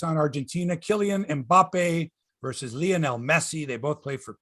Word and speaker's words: Lionel: I want to say Lionel, but it's not like Lionel Hutz, attorney at law. It's Lionel Messi.